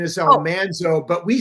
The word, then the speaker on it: Almanzo: seat this morning, I do have the wonderful Elmanso. And actually the correct pronunciation is Almanzo, but we said it wrong for five years.